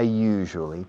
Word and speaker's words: usually: I usually talk to Maria during the programs. La palabra usually se usa muchísimo. Usually. La pronunciación es un poco complicada. You. Es como en francés. Je suis. Je. Usually. I usually speak or talk